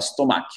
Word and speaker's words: stomach: Farida, tu as mis l'accent tonique sur la deuxième partie. D'accord? C'est stomach, pas stomach. Stomach.